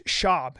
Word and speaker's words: Schaub: somebody of Latin descent where's Brendan Schwab from it's shab you have to say his name right Brendan shab yeah Brenan schab I got introduced to